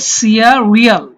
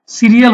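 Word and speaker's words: cereal: সিয়া, এখানে হবে সিয়া রিয়াল। সিরিয়াল হবে না, সিয়ারিয়াল।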